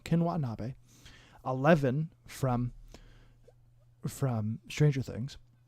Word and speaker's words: Ken Watanabe: needs to know them they are kinwatanabe watanabe sorry i pronounced his name wrong ken watanabe 11 from from stranger